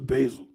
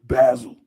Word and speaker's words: basil: There was some very very interesting facts about the basil. Like I said, in other countries they pronounce basil, but it's basil.